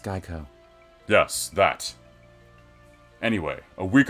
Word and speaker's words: GEICO: I've just discovered this strange place called Gecko. It's quite handy. It's pronounced Geico.